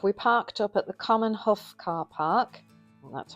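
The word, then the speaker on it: Common Haugh: So once in Hawick, we parked up at the Common Huff car park, that's how you say it, which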